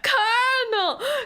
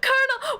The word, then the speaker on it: colonel: Colonel. Colonel. Where is the R? Where is the R? How How is this pronounced? Colonel. I don't understand. Where's the R? How is the L turning into an R?